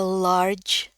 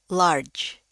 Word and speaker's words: large: Nah, ini bacanya lagi lar dengan j. Large. Large.